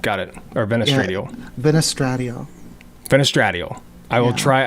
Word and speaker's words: Vanesstradiol: Yeah, Venestradiol.